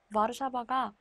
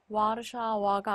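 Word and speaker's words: Warszawa: 그래서 가장 대표적인 예시로는 와르샤바가 있죠. 와르샤바가 와르샤와가 아니라 와르샤바인 이유가 바로 여기 이 영어로는 W지만 폴란드어로는 무로 읽히기 때문에 와르샤바, 우, 보다, 보다 이렇게 읽힙니다.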